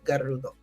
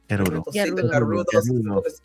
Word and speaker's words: Gerudo: And we can actually say it that way because that's really in my mind how it's pronounced. We're gonna go to the Garudo. Gerudo.